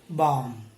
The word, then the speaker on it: balm: But moving down to the second list, please note the letter L is not pronounced in all these words. So P-A-L-M is pronounced as palm, C-A-L-M is pronounced as calm and balm.